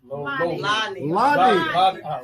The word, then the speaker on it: Lonita: Lonita. So it's spelled with an O, but it's pronounced with a... It's a short O.